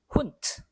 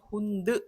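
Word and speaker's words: Hund: 훈트. 자, 이번엔 잘 아시겠죠, 이제는. 이 내가 단어 맨 끝에 나오면 혼드 하지 않는다. 훈트.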